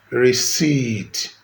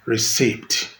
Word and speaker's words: receipt: Then we have EI as spelling symbol, and it is seen in words like seize, sailing, receive, deceive, receipt, not receipt. P in that word is silent.